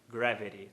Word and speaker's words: gravity: Ele faz o tap nos dois. Então ele fala reality gravity.